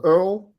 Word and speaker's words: Earle: Yeah, they could just Earle, Earle, E-A-R-L-E. Remember, I was born in London, England, so we spell it with an E at the end.